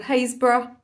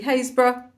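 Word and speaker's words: Happisburgh: and a half's drive in a place called hayesboro at least that's how it's pronounced it's actually spelled happysburg which of course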